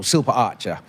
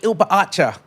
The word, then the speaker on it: Silpa-archa: So my last name, for example, Silpa Archer, they would call me, Oi, Ilpa Archer.